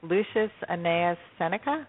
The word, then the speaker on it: Lucius Annaeus Seneca: And that's by, I'm going to probably pronounce this incorrectly, Lucius Annaeus Seneca.